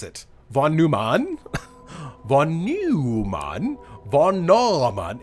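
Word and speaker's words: von Neumann: update Von Newman How would you pronounce it Von Numan Von Numan Von it's Von Numan that's how it's pronounced it just like neutral neutral uses the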